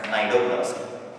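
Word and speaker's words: cnidoblast: called as needle blast we write it needle blast actually we can pronounce it as nidoplasty okay i pronounce sometimes like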